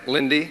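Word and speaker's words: Linde: my colleagues at the Lindy Group have developed, and I'll show you all the details. I'm from the Lindy Group. Lindy, not Lind, rhymes with bagel.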